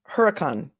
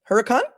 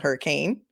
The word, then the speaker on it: Hurricane: as a manipulative tactic um yah Sherry it's pronounced Huracan Huracan oh really cause Brian schne who's my favorite reporter from Salt Lake City kuv he he said it was called hurricane all right if it's Huracan it's Huracan but